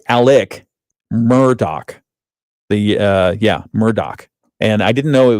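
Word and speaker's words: Murdaugh: fatal shootings of his wife and son is pronounced Alex uh I'm sorry, Alec Murdoch. The uh Yeah, Murdoch.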